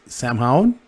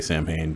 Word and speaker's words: Samhain: happy halloween everyone happy samhain i could never pronounce it right so i say champagne but it's not it's sound um but i